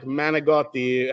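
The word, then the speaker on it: manicotti: You just cut off the last vowel. You don't say. You say regatta. Like Manigotti has an I at the end, but everyone just says Manigot.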